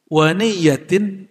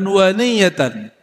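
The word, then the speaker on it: وَنِيَّةً: Ah, ini waniyah ini pembacaannya ada dua. Waniyatin dan niat. Tapi ulama ahlullah mereka bacanya jihadun waniyatan.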